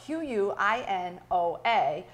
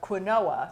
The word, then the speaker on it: quinoa: little hard to pronounce and confusing so this is spelt q-u-i-n-o-a and you want to sound it out so that it sounds like quinoa but it's actually pronounced quinoa and it's an